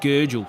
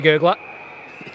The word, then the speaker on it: Gurgle: Of course, president of Lauderdale, watching this one from Italy, and it's pronounced Gurgle, so we've been butchering it all day. Sorry, Gurgler. It's Gurgle.